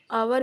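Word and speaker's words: hour: एन आवर एन आवर इसलिए लगाया क्योंकि आवर में भी इट्स साइलेंट है और आ का इस्तेमाल हुआ आवर आवर आ से अह के बीच में उच्चारण हो रहा है तो इसी लिए हम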